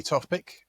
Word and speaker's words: Tofpik: we are honored to have with us Topek if I pronounce it right. That's correct. My name is Topek.